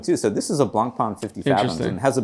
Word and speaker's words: Blancpain: Blancpain.